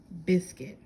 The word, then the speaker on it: biscuit: Biscuit. Biscuit. This is actually written like biscuit with a sinky silent I this time.